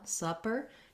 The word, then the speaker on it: supper: tight american er then in supper ah supper you have the vowel schwa the stress so it's held long it's the ah sound you could try pairing a word like um some supper or done with supper um i've rewritten the uh vowel as u h here for you to visualize and think of that schwa sound so these two are